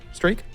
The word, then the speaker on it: Streak: battle with cancer who's 49 years old it's pronounced streak or stroke strike streak yeah I met him interviewed him really nice